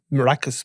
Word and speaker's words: Arakas: And in fact, I think Imre Arakas may even be pronounced Imre Araka at times. So, we'll call him Arakas.